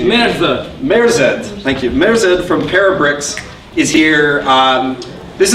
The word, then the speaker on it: Merzed: Merzed from Parabricks is here.